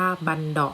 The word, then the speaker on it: บัณเฑาะก์: ก็ คือ กลอง บัณเฑาะว์ นะ คะ อ่าน ว่า บัณเฑาะก์ นะ คะ ก็ คือ กลอง เมื่อ สอง หน้า